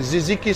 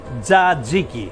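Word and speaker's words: tzatziki: And ziziki sauce. No, no, no, no, zadziki. Zaziki. Zaziki. Zadziki. Exactly.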